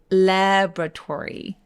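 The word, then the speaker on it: laboratory: 거예요 다시 한번 해볼까요 이번엔 실험실인데요 실험실 마찬가지로 두 번째 보이는 저 5가 없어집니다 그래서 라고 읽어주세요 다시 한번 레버 토리 근데 ry 단어들 전부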